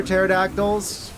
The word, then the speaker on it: pterodactyls: Let me guess because the P is silent.